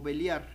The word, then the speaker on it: Belial: Designar a espíritus malignos belial o también pronunciado como beliar de la raíz bal